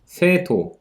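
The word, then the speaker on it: 生徒: 그래서 여기도 그 세에 들어가는 발음이 세토, 그래서 생도, 도는 이 토가 이제 도가 되는 거죠.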